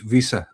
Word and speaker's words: Wisła: Although, can I just pick you up on the fact that the W in will be pronounced a V? So Krakow. It's Wisła. It's Wisła Krakow.